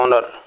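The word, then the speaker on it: honour: इसका मतलब हुआ, जैसे एक एग्जांपल से जाने, लिखा हुआ ऑनर, ऑनर इट मीन्स पहला लेटर एच है लेकिन एच साइलेंट होता है, इसलिए इसको हम बोलते हैं ऑनर।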